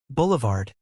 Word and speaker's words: boulevard: Boulevard is slash bul.vrd slash. Stress on the first syllable and a soft D at the end.